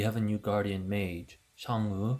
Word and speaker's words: Chang'e: We have a new Guardian mage Chang’e (pronounciation: SHANG-euh) who is the lunar goddess from Chinese mythology.